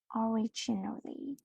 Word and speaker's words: originally: word we have is originally originally originally originally the stress is on the second syllabus originally originally this originally